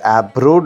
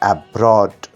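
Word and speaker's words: abroad: right option C আব্রড দেখো বানানটা দেখো এবি আর তারপরে রোড আর ও এডি কিন্তু অব্রড হয় না উচ্চারণটা হয় এব্রড ওকে এব্রড মানে বিদেশে বা বিদেশে থাকা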